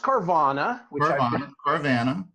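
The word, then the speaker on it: Carvana: say about carbon I believe right well it's pronounced carvanha I know but I like to say carvanha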